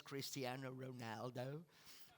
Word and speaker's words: Cristiano Ronaldo: see my fellow countrymen Christian Ronaldo this is the right pronunciation the English race Cristiano Ronaldo but we say that Christian Reynolds it's quite difficult yeah yeah so um we